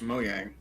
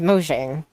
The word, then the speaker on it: Mojang: Did you say Mo Yang? Was that what you said? It is actually technically pronounced Mo Yang, but the way everyone pronounces it even, including them, is Mojang.